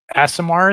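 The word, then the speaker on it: Aasimar: So does this figure look like you said Asimar is how you pronounce it?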